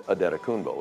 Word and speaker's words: Antetokounmpo: It's more of a Nigerian pronunciation, which is where he's from. And it's Adetokunbo.